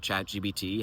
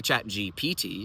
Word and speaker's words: ChatGPT: But why are we doing this when there's so clearly a P in the middle of its name?